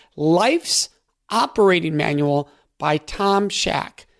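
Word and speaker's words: Shadyac: operating manual by Tom Shaq Shaq Shaq is spelled Sh aya C life's operating manual by Tom Scheck super powerful book and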